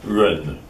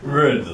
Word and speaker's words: jen: spelling, Jen, obviously pronounced Run. Run, like it was R, short B, and Run. So CH is pronounced J and J is pronounced R.